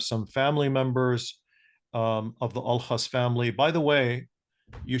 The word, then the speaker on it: Alkhas: And the name, of course, the pronunciation, Al-Qas, is pronounced Alkhas in that part of the world, which uses largely Turkic, Azari, in addition to, of course, Assyrian.